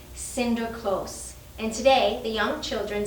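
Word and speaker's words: Sinterklaas: and his good deeds in the dutch language saint nicholas is pronounced cinder close and today the young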